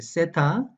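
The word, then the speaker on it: θήτα: 애타 그 다음에 세타 이제 2세 타라고 하는 발음은 영어식 발음이 고 어 일반 그리스인 그리스식 발음은 떼라고 합니다 예 대나 때 라고 하려고 하는데 우리는 그냥 편의상 3라고 이렇게 마련하겠습니다 그래 쎄타 이오타 카파 그리고 람다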